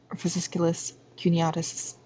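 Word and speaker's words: fasciculus cuneatus: a the q um fasciculus cuniatus is what it's pronounced as and then you have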